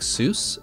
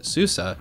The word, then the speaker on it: SUSE: already know Susa the company which looks like soos but it's actually pronounced Azusa offers Susa Enterprise Linux and has a business